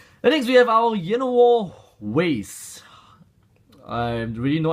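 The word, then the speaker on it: Llanowar: And next we have our Yenowar Waste. I have really no idea how to really pronounce this the correct way. Is it Yenowar Waste or Yenowar Waste? Double L as in a Y in Spanish.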